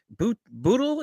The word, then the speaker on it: Bootle: My guest today is the host of the podcast, Everyone is Addicted, the one, the only, Jasmine, is it Bootle?